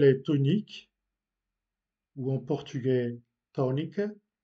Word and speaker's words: tónica: Dans des syllabes accentuées, on dit que la voyelle est tonique ou en portugais tónica. Remarquez que on accentue la première syllabe là où est l'accent, tónica.